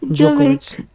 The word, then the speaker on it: Djokovic: D is silent. Djokovic.